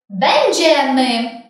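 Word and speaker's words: będziemy: Ми – бендеми. Бендеми. Ми будемо. Зверни увагу на наголос. Бендеми. На другий склад з кінця.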